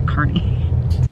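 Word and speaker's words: Kearney: you guys say it I know he spell it with a K but I still hope that you go say a carnie so it's 1238 and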